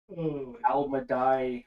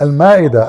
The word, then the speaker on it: Al-Ma'idah: Hey Christian, I have a question regarding Al-Madai. I don't know how to pronounce it. Al-Madai, chapter 5, verse 116 in the Quran. Al-Madai? Yeah, it says Al-Ma'idah.